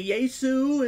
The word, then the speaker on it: Jesus: You could say Yesu in Spanish or whatever, or in other languages that pronounce it as the Y sound, but there's nothing wrong with making it the J sound.